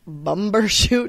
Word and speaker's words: bumbershoot: Time now for today's grandiloquent word, bumbershoot. Bumbershoot. It's a fun one to say. Try it, Heidi. Bumbershoot? Yeah, you said it wrong. Bumbershoot.